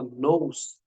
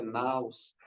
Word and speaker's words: nous: Então, quando ele fala nous, a pronúncia correta é naus, é a centelha do infinito, é a partícula de tudo, é a essência de tudo.